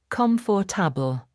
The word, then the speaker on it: comfortable: For example, the word comfortable has 4 syllables when you read it. Comfortable. But native speakers usually say it with only 3 syllables. Comfortable. The or sound disappears completely.